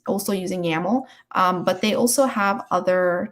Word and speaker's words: YAML: pipelines and usually they're coded in something called yaml or it's spelled y-a-m-l and pipelines are basically just code